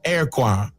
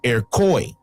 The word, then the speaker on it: Iroquois: It is not pronounced Iroquois or Iroquois. The correct pronunciation is Iroquois. This pronunciation reflects its Algonquin origin, which is evident in our English language today.